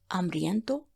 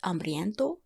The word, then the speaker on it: hambriento: As I'm a female, I used hambrienta. And one more thing, usually you don't pronounce the H at the beginning of the words in Spanish. It remains just silent.